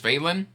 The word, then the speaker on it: Vaelin: But I'm going to tell you right now, the new main character is Vaelin. Vaelin? V-A-E-L-I-N. Vaelin is the only way I can think to pronounce that.